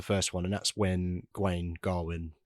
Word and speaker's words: Gawain: one and that's when G Garwin I'm going to say G because that's how we say it in modern well yeah apparently it's kind of gain now but back then it would have been pronounced gwin yeah strange but yeah